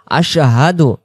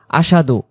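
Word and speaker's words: أشهد: এই শব্দটা অনেকে আমরা বলে ফেলি আশাদু। আশাদু আল্লা ইলাহা ইল্লাল্লাহ। আশাদু আল্লা ইলাহা ইল্লাল্লাহ। এখানে স্পষ্ট করে আমরা বলব হামজা সিন জবর আশহা জবর হা দাল পেশ দু উচ্চারণ আশহাদু আশহাদু আল্লা ইলাহা ইল্লাল্লাহু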